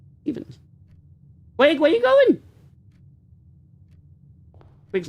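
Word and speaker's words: Stephens: It's spelled P H as in S T E P H E N. And we call it Stevens. Not Ste, not Stevens. Stevens.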